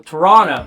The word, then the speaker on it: Toronto: When I was in Toronto, I was told that you can't pronounce the T. Like, it's super offensive. So, Toronto.